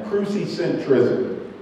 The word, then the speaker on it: crucicentrism: And I'm gonna have my son spell that because he just looked up at me. C-R-U-C-I-C-E-N-T-R-I-C-I-S-M, crucicentrism.